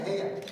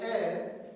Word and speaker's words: heir: It's not a hair. No. You see, I'm putting the silent H. You see, the H is silent, so now I don't know why the H is there.